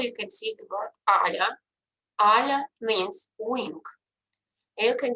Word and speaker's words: ala: L is always soft, that's why I make the second a softer, ala.